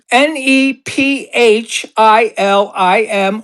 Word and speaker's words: Nephilim: How do you spell it? n e p h i l i m or alternatively n e f i l i m, pronounced Nephilim in is Hebrew.